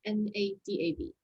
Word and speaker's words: Nadav: Next one is Nadav, if that's the correct pronunciation, N-A-D-A-V. Yeah, hey, it's Nadav.